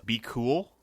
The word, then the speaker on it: BQL: I mean, also worth looking up is Be Cool. Even though it's spelled BQL.